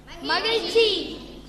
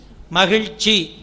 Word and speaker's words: மகிழ்ச்சி: மகிழ்ச்சி. மகிழ்ச்சி. அந்த இல் வருது அல்லவா, ரொம்ப அழுத்தணும். மகிழ்ச்சி.